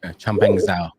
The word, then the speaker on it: Changpeng Zhao: Changpeng Zhao. Changpeng Zhao.